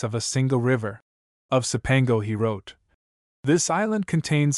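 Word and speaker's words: Cipango: surely come to the islands of Sepango, pronounced in Italian chaipango, or Japan, lying off the mainland of Cath or China.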